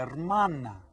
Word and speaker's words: hermana: Es la hermana. Repitan todos. La hermana. That's right. Remember that the H is silent. Hermana.